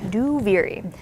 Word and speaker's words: Duviri: We've been typing it only because we're still working remotely, so saying Duviri out loud is that's how you pronounce it, by the way. Duviri.